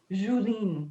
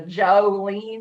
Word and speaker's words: Julene: And he said it is, like, because you pronounce it and like it's like Julene, like Julene. It's not like the Jolene, like how people would say it from Duplin County.